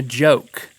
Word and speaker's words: goke: - Then you throw the ginger on there, and ladies and gentlemen, you are creating a goke. G-O-K-E, but it's pronounced with a juh.